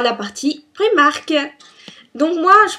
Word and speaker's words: Primark: disney donc on passe tirait à la partie primark donc moi je prononce primark n'y en a certains qui le